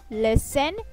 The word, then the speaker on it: listen: repeat after me see listen and say say okay one more time see listen and say okay listen listen okay it's not listen it's listen okay silent t listen this question